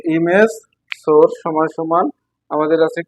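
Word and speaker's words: src: সেটা হচ্ছে কি এমএস এস আর সি যাকে উচ্চারণ করবা সোর্স এমএস সমান সমান ইনভার্টেড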